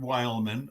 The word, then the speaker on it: Weylman: best way to do just go to Wildman I'll spell it for you w y l m an